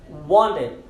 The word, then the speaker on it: wanted: E a segunda regra é a seguinte: sempre que o T ele estiver entre N's, ou antes ou depois um N, sempre que tiver anteriormente ou depois dele um N, nós não vamos falar o T, nós vamos silenciar esse T.